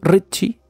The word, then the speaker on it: Ritchie: con un fulano llamado así como lo estoy pronunciando Ritchie con esta t intermedia es porque la familia